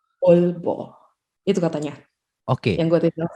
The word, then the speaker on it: Aalborg: Dan penyebutan untuk Aalborg itu tadi adalah double A sebenarnya, double A. Jadi dibacanya Aalborg.